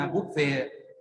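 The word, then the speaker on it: บุฟเฟต์: ประทาน อัน แรก คือ บัฟเฟ่ บเ ไม่ บุบ ๆ นะ บุ๊บ ๆ บุบ ๆ บ แม่น บุฟ นะ บุฟเฟ เอ่า ออก เสียง ออก เสียง บัฟเฟ่ นะ ครับ บัฟเฟ่ บัฟเฟ่ อย่าง มา ฝรั่ง งง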